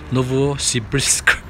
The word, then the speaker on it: Novosibirsk: have checked with the kite it should be pronounced as Novosibirsk and the Chinese name of the city is